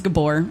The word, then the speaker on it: Gbur: My last name is Gbur, and it's spelled very simply, but nobody can ever pronounce it. So it always gets pronounced Goober.